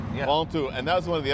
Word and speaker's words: Ventoux: Ventoux. Ventoux. Yeah. Ventoux.